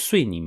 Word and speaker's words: Suining: The most famous gang in Sichuan was called the Xuning Gang, also known as Suining Gang, but in Sichuanese pronounced Xuning Gang.